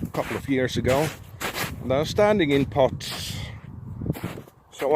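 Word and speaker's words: æ: And this one here is called a, and you will find it in English here in bad, or sacrifice, or shatter, And this one here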